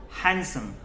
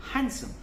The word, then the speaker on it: handsome: This is called handsome. D is silent in this. D को आप नहीं बोलेंगे. We will call it handsome.